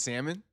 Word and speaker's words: salmon: Sam, is it salmon? I would say salmon. I would not pronounce the L, but all I'm saying is um you know that dude.